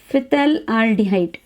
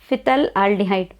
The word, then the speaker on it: phthalaldehyde: Phthalaldehyde. Phthalaldehyde. Phthalaldehyde you call it as. Difficult to pronounce. Okay, phthalaldehyde. Sometimes P is taken silent also.